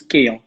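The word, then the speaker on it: Kean: Alors, juste, Moïse Kim, il est d'origine ivoirienne, donc il paraît que son nom se prononce Kéan.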